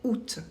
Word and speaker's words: août: On a un mot exception, c'est août, le mois d'août qu'on écrit avec un A qu'on ne prononce pas.